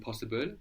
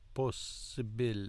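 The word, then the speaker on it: possibile: work with the syllables posib POS very good and it felt good to take it slowly no like possib possib because you accent the second to the last um syllable of most words right possib possib possib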